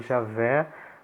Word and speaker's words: Javé: não pronuncia isso eh em português a pronúncia pode ser Jeová ou Javé né os protestantes tendem a preferir Jeová os católicos tendem a preferir Javé Mas de fato tanto